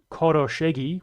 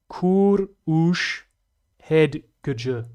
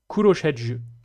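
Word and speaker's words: Kőröshegy: It's not Koroshegi, which is what I said in the video. My apologies, Nerdy Guy BP. It's pronounced that. Kurush Hedgj, but spoken as one word. Kurushedj.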